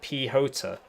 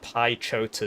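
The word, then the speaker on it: Piechota: It pronounces like P-Hota. Yeah, I'm just going to carry on saying Pi-Chota Zmek. Pi-Chota Zmek. I think I'm just going to keep saying that.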